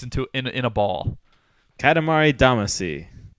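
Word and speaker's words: Katamari Damacy: in in a ball Katamari damasi that is close the way it's said in in Japanese at least is Katamari damashi oh D actually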